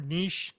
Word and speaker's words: niche: to kind of decide which niche fit you best, or niche, to say it correctly, fit you best.